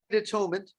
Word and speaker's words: atonement: Now, having made atonement, you have purified your body, mouth, and thoughts. This purification is due to the power of atonement, which we also pronounce at-one-ment. At-one-ment, atonement.